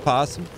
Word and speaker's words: opossum: er as a posture why is it spelled opossum but it's pronounced possum you interrupted his stream